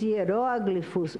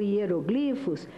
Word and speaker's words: hieróglifos: Porque como a escrita é gravada para a posteridade, vide, por exemplo, os hieróglifos ou hieroglifos, a nossa ortoep ainda não se decidiu pela pronúncia dessa palavra, mas vejamos os hieroglifos egípcios do Egito Antigo, ou os manuscritos do Mar Morto.